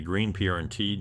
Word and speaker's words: Greenpoint: true New Yorker accent dropping the vowels to say green prnt just like someone born